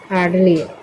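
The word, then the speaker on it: hardly: में नेक्स्ट है हार्डली इसको बोलते हैं हार्डली एच से होता है ह ए से आर की मात्रा हार्ड आर इसमें साइलेंट है फिर ड डी से होगा ड इ भी साइलेंट है फिर एल से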